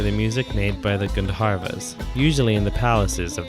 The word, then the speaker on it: Gandharvas: often wives of the Gandharvas or if I were to try and pronounce it more correctly gun divas quick sidenote about the